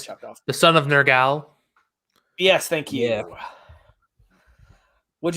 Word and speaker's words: Nergal: Did you say the son of Nergal? Yeah, Yeah. that's how it's pronounced in the movie. Son of Gosh. Nergal.